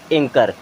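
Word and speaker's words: anchor: सी एच ओ आर यहां पर क्या साइलेंट हो जाएगा सी के बाद में एच है तो एच साइलेंट हो जाएगा सी के बाद में एच साइलेंट हो जाएगा तो अब इसे हम क्या पढ़ेंगे एंकर क्या पढ़ेंगे एंकर बच्चों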